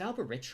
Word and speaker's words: Alberich: Is it Alberich or Alberic? I feel like the CH in this situation is doing the hard C sound.